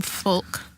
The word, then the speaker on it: folk: alright I have some folk music bulk you don't really like to say that Alan Lord folk that's the folk is the folk music silent l like folk down in